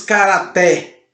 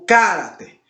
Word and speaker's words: caráter: Nós não dizemos karaté. O caráter. Nós dizemos caráter.